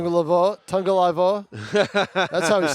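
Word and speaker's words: Tagovailoa: Was it Tagliavoa? Tua on the quarterback for Miami. Just another example. So. Tungalaivoa. That's how he's pronounced. Yeah. Yeah. Yeah, it's tough. The tag is a tongue.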